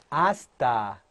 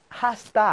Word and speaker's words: hasta: 다음에, hasta luego. hasta luego. 네, hasta luego라는 건데요. hasta luego라는 것은, 네, hasta는 뭐뭐까지. hasta 아닙니다. H 발음이 무입니다.